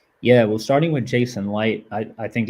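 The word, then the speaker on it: Licht: How you pronounce his name? Light. Yeah, Light. Light.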